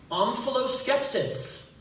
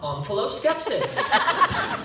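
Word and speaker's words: omphaloskepsis: Could that also be pronounced omphaloscepsis? It can. It would be wrong. Omphaloscepsis.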